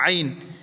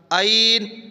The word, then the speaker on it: عین: تو یہ نکلے گا عین۔ یہ اس طرح نہیں پڑھنا بلکہ صحیح طرح عین۔ بعض لوگ عین نہیں پڑھنا، گلے پہ زور دیں عین عین۔ یہ پریکٹس کریں گے